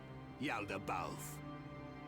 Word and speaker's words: Yaldabaoth: You have never seen me outside my face, Yaldabaoth. Oh, that's how you But pronounce even that. if I am without it, I thought it was you will Yoldabaoth.